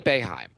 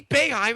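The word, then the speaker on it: Boeheim: thing okay so Jim beheim unless you've heard his name before there's no way you see his name and pronounce it beheim right there's no a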